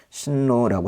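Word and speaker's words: 進路: 어 자기 스스로 이게 자기대 지분대 뭐 그런 표현을 쓰면 될 거 같고 진로라는 건요 우리말과 좀 비슷한게 있어요. 근데 이제 발음이 조금 다른데 신로라고 하고요.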